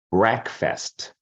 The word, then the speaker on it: breakfast: Muitas pessoas querem falar breakfast, né? Porque vem aqui, ó, break e fast. Mas junto é breakfast.